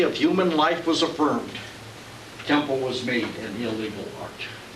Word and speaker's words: Kenpo: First of all, it's pronounced with an N.